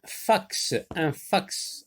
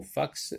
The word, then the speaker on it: fax: Dans le mot fax, donc, la lettre X se prononce, et ça se prononce X, fax.